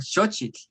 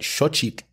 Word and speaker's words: xochitl: Well, one thing I tell people is that xochitl is actually a really good word to master because you get the sh sound, you get the ch sound, and you get the TL at the end, right?